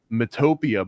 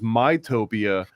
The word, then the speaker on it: Mytopia: girl in the video said um Mtopia, but it was mytopia, which is interesting because like myopic Utopia, but also Utopia would be like I'm talking about phonetically yo U like Utopia, but hers is called Mytopia.